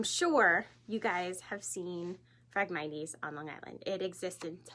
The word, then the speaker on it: Phragmites: known what it is Phragmites it spelt with a pH so a little confusing instead of an F so Phragmites are these